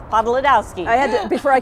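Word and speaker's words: Podlodowski: Podolowski. Podolowski.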